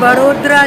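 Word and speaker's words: वडोदरा: तो guys we have reached बड़ोदरा junction, station code is BRC का, formally known as Baroda city junction, जिसके लिए BRC, बट अब अगर देखोगे प्रोनाउंसिएशन वर्ड्स बड़ोदरा।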